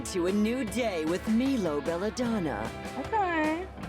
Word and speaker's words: Milo: I thought it was pronounced Milo. That... Milo? Oh, I've never heard it pronounced like that. What's up, Milovers? What's up, Milovers? Like my lovers. That would still be fine if it was Milo.